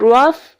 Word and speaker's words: rough: अगर हम दूसरे वर्ड को देखें, रफ को, इन रफ they have the sound of फ. रफ में ये फ की साउंड, रफ, लेकिन र ऑफ रफ, फ की साउंड प्रोड्यूस कर रहे हैं.